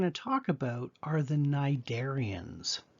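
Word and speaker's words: Cnidaria: talk about are the narian notice that the C is silent these are um metazoans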